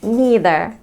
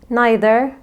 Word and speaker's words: neither: ورابع زوج من الكلمات هنعرف الفرق بينهم هما either and neither. الكلمتين دول ازاي ننطقهم؟ هل either neither ولا either neither؟ الحقيقة الكلمتين دول لو نطقناهم بالطريقتين فإحنا صح.